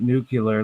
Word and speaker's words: nuclear: would say nuclear nuclear it's spelled Nu U l e a r nuclear nuclear it's not nuclear like Bill and Ted's Excellent Adventure nuclear it's his Vermont his